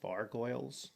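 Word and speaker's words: vargouille: guess these are vargoyles. That's how you pronounce it.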